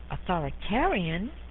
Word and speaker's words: authoritarian: Authoritarian rhymes with barbarian.